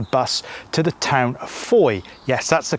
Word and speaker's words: Fowey: gonna catch the bus to the town of foye yes that's the correct pronunciation it's actually spell f-o-w-e-y so it looks like it's fourier but it's foi beautiful ancient market town right by the river